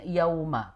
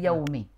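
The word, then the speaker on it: يَوْمِ: Kemudian dia bukan yauma tapi yaumi.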